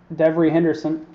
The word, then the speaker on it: Devery Henderson: Next card is a jersey for the Saints of Devery Henderson. I feel like I'm saying that name wrong.